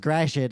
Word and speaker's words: Gratiot: much any streets it's like turn right on Gratiot Avenue m53 the thing is there's really no way to know it's pronounced grait unless you live there mhm like uh remember